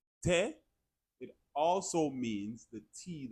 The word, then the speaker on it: te: Te, te.